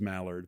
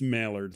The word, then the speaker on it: Maillard: My nickname is, because everybody mispronounced it as Mallard, but it's Maillard, like Norman Mailer with a D at the end.